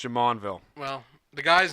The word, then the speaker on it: Jumonville: It's And pronounced Jamonville.